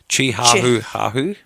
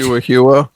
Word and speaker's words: Chihuahua: and mispronouncing words, and I'm still laughing at, what was it, Chihuahua? Chi-ha-hu-ha-hu? Chi-how-how. Yeah, there you go. Yeah, so we'll do that. Thank you, mate. Chi-hua-hua. Chi-hua-hua, that's the one.